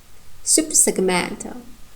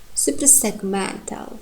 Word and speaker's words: suprasegmental: And we have also a tertiary one in the middle, in the third syllable, seg. You see we have full vowel here, e. Suprasegmental. Suprasegmental. So therefore it's tertiary.